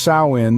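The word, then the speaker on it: Samhain: the Kelts celebrated a festival known as samhan pronounced sa in this festival marked the end of the harvest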